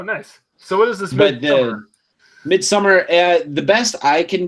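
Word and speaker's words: Midsommar: Wait, Midsummer. It's spelled Midsomer. Midsummer. So it's spelled like the Germanic.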